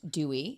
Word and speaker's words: DUI: The cat in the background is named DUI, pronounced Dewey.